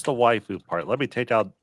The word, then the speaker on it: waifu: what the heck is a Wu or Wu it's it's pronounced waiu yeah what is it